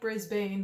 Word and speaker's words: Brisbane: It's spelled like Brisbane, but I think it's pronounced Brisbane.